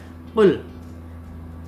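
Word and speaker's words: قُلْ: Qul.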